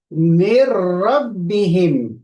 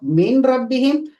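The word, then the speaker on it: مِّن رَّبِّهِمْ: this, min rabbihim, but we don't pronounce the noon of this category because of the ra after it. So we say mir rabbihim. Instead of min rabbihim, we will read mirra.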